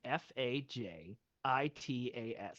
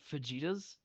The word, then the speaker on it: fajitas: Mexican food that's spelled f AJ i t a s how do you pronounce that word an fajitas okay good because in England they say pasta but they also say fetas no it's fajitas I'm not a I'm